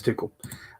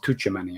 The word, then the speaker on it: Tuchel: But Tuchel, I believe is how you say it.